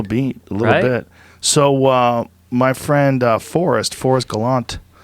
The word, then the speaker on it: Galante: So my friend Forrest Gallant. Is it Gallant or Galante? I would go with that E. Gotta Galante. pronounce that.